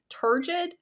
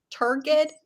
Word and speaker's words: turgid: fine my issue was um i can never pronounce this word somebody tell me the right way for the love of god turgid turgid t-u-r-g-i-d like stiff um so there was a